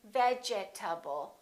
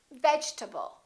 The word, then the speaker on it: vegetable: in this case the e is dropped we don't say vegetable a lot of my students say vegetable or vegetable this e disappears and this a is reduced because it's part of the unstressed syllable and we say vegetable vegetable let's look at